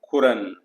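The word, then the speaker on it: خورند: अगला खुरंद, तो ये स्पोकन में रहेगा खुरन, वे खाएं दे ईट।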